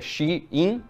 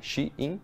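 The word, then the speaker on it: Shein: dos produtos comprados na Shen é a pronúncia certa seria xin né Shin algumas pessoas estão começando a pronunciar assim mas como no dia a dia todo mundo fala Shen vou falar Shen também a Shen diz que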